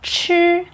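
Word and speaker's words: 吃: to say hello means there is an easy way to remember this pronunciation you just imagine to eat chili paper as you know chili pepper is very hot and sure is just like the first syllable of chili means have eaten ma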